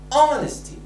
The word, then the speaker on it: honesty: now beneath the first word how do you pronounce it we say honesty so the silence letter is it ain't very